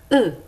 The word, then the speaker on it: œufs: Attention, dans le mot œuf, au pluriel, on ne prononce pas le F. On dit un œuf, des œufs.